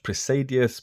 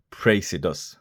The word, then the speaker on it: Praesidus: now in the past I've called this watch predus because the name is a dyslexics nightmare but we'll try and keep with the correct pronunciation which is praus so I've looked at a couple of the